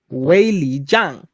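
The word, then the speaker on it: Weili Zhang: Anyways, my girls, Wei Jiang. That's how you pronounce the name. Wei Jiang.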